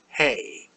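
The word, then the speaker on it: ה: Hey. Straightforward H. Easy. Any American or English speaker can do it. It's almost always pronounced except at the end of a word.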